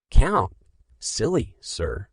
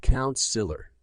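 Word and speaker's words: councillor: Count? Silly, sir, said Kaya. The children looked puzzled. Who was Kaya calling silly? Ha ha ha, my little one. It is pronounced Count-Siller, said Deepika Didi.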